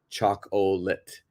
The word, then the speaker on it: chocolate: For example, in this one, the second O is silent. We don't say chocolate. Chocolate.